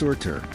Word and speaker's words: Surtr: Geologists gave it a name, Surtsey, after Surt, pronounced Surtr, a fire giant from Norse mythology said to burn the world at the end of time.